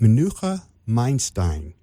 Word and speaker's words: Menucha Meinstein: of Boomer times radio and I'm here with Manuka Einstein am I pronouncing your name properly absolutely correct okay thank